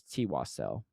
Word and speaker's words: Twassel: No, his actual pronunciation is Twassel.